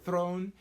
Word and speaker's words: Theron: So going into it, Charlize Theron, or Theron, as I saw her correctly pronounce it one time on the show, Charlize Theron, awesome.